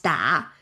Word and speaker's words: 打: But we don't pronounce 叮, we still pronounce 打.